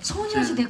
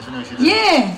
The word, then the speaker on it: 소녀시대: 알게 될 것 같아요 전 선녀 시대 예 소녀시대 걸스 제너레이션이 예 손녀시대 Girls 제너레이션 예 예 발음은 달라요 다른 지역에서 공부를해서 전 많이 모르겠지만